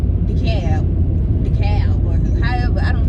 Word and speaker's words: DeKalb: A girl I know from Atlanta, she said it's decab.